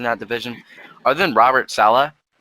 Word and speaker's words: Saleh: division other than robert sala which is how i think you should say his name uh they're all proven